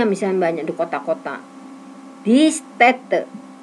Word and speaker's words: Städte: Die Städte. A diganti A umlaut. A umlaut dibacanya E.